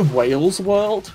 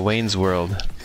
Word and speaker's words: Wayne's World: Did you just say Wales World? No, Wayne's World. No, but like the first time you mispronounced it.